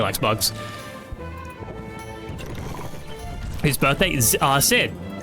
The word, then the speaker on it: Xid: His birthday is Sid. It's spelled XID, but apparently it's pronounced Sid.